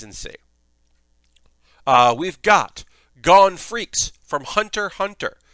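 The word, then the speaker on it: Freecss: uh we've got gone freaks from hunter hunter the x is silent and it's also not cross this is under honor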